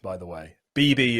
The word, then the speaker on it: Beeby: correct by the way bb is exactly how my name is meant to be pronounced so that's wonderful oh great yeah exactly it's not always the case sometimes uh uh it gets mispronounced a lot in letters as beefy which is a very different word but um so uh